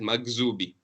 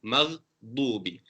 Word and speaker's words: مغضوب: pronounced as dha, maghdubi, or no emphasis whatsoever and they pronounce it as maghzubi. It has to be dad, maghdubi alayhim waladallin.